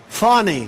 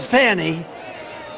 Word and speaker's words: Fani: these local cases like funny funny it's spelled Fanny it's spelled Fanny like your ass right Fanny but when she became da she decided to add a little French she little Fancy funny funny and you know